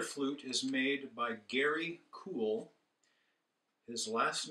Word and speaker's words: Kuhl: collection this particular flute is made by Gary cool his last name is spelled K Uhl they live in crow Oregon